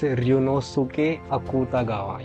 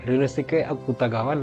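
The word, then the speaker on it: Ryūnosuke Akutagawa: that after that uh uh It's let me pronounce the author's name. It's Runosuk Akutagawa. Yeah, Runosuk Akutagawa.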